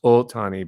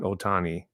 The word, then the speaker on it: Ohtani: It's pronounced Ohtani, by the way, not Otani.